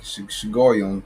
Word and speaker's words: Shigionoth: Shigoyon. It's like Shigoyon, the proper pronunciation.